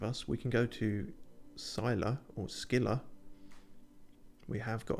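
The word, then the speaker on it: Scylla: the sound destination reached Sila okay that's good to know that's how you pronounce it Cilla as in Silla black it is quite black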